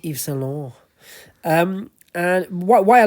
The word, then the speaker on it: Yves Saint Laurent: Say it properly. Yves Saint Laurent.